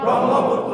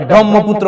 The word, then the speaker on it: ব্রহ্মপুত্র: ব্রহ্মপুত্র কি পুত্র ব্রহ্মপুত্র তাহলে এখানে হ কে আমরা সাইলেন্ট করে দিয়ে ম কে দৃত্ত উচ্চারণ করব কিন্তু উচ্চারণ করব ম কে দৃত্ত উচ্চারণ করব এখানে আমরা এটা ব্রহ্মপুত্র বলবো কি বলবো ব্রহ্মপুত্র ব্রহ্মপুত্র এবার পাঁচ নাম্বার বৈশিষ্ট্য